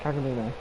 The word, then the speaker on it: Kagamine: However you spell it. Let me hear you say it. Kagamine.